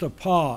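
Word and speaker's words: ἀπό: It's pronounced a pa, it means away from.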